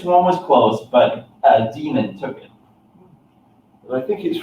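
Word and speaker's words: daemon: a no nope but I've always read that as de MLM and that's pronounced demon yeah I believe so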